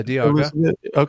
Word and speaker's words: Diaga: Yeah, Diaga.